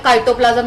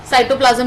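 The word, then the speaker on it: cytoplasm: कुछ अच्छे लोग इसे काइटोप्लाज्म भी कहते हैं। काइटोप्लाज्म इज द गलत प्रोनाउंसिएशन, ठीक है। साइटोप्लाज्म ही कहा जाता है।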